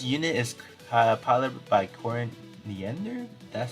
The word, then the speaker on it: Corin Nander: but uh this unit is uh pilot by cory niender that's how you pronounce it uh we actually do have it